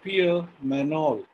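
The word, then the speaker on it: Pierre Magnol: france his name was pierre manol or if you ask english pronunciation it is peter magnol in french g is silent and means peter in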